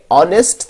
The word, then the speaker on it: honest: इस दूसरे एग्जाम्पल में हॉर्स में एच जो है वो प्रोनाउंस किया जाता है, लिहाजा यहां पे अ का इस्तेमाल हुआ. और इससे पहले वाली एग्जाम्पल में जो कि ऑनेस्ट था वहां पे एच प्रोनाउंस नहीं किया जाता.